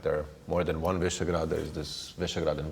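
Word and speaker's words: Visegrád: Yes, I mean it's hard to pronounce also for some. It's Visegrad, it's Visegrad, but I think this name served the cooperation and the fund well.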